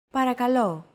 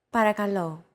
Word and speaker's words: παρακαλώ: The P, R, K, and L sounds are practically identical to English. Don't forget that words get accentuated in Greek, so make sure to stress that final syllable with the accent mark.